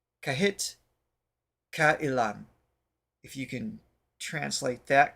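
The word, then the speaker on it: Kahit Kailan: song is kahit uhan because the A and I would be pronounced separately so kahit kaan if you can translate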